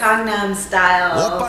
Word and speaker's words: Gangnam Style: Welcome to behind the scenes of, how do you pronounce it? It's Gangnam Style.